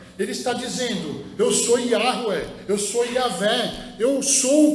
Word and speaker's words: Yahweh: O nome é Yahweh. Yahvé, como nós conhecemos, dessa forma.